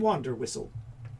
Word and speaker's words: Wanderwhistle: Finnan Wanderwhistle. The H is silent.